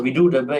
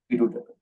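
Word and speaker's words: Viḍūḍabha: So Vidudaba is the accepted one. Vidudaba.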